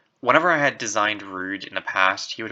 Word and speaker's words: Rød: Apologies if I keep saying Rod. I spent so long thinking that the pronunciation was like rude or something, and not it's rude. Basically, I've been mispronouncing his name for a long time, and